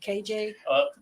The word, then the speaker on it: Qaji: It's pronounced a few different ways, right? Yes. كاجي قاجي طبعا كل واحد يقوله شكل. KJ. What? A lot of my clients that don't speak Arabic say KJ.